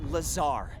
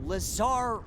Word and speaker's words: Lazar: and its sales liaison it's lazar actually accent on the czar but yes i'm your pop for r d no it's lazar blazer i don't know